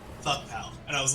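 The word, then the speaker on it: FVCKPAL: into all chat, like, how do you pronounce F-V-C-K-P-A-L? And they were just like, fuck pal.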